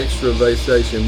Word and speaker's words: Extravasation: Specimen, Critical Extravasation. Critical Extravasation. That's how you say it right there. Extravasation.